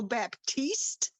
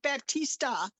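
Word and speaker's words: Battle-Baptiste: Yeah, so last name is Battle Baptiste, Didn't I not say that? not Baptista.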